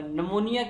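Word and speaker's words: pneumonia: correct spelling है वह P N-you M ओ एन इ पर नमोनिया इसमें साइलेंट रहेगा बुखार कि किस समय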